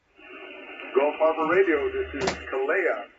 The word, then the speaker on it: Kalia: Gulf Harbour Radio, this is Kalia. How are you doing this evening? Oh, we're very well, thank you. Kalia. I'll get the emphasis on the second syllable.